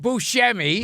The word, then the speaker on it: Buscemi: you ever seen you dishonor him again by mispronouncing his name now it's Buscemi Buscemi yes and he said he said I love